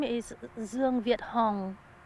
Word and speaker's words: Hong: you just say your name, please, and just spell it. My name is Zong Viet Hong.